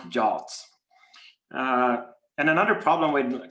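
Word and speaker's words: JWT: exposing uh jobs and i say josh now i mean json web tokens but uh pronounced jolts uh and another problem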